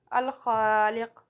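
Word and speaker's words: الخالق: Arabic pronunciation of this word is Al-Khaliq.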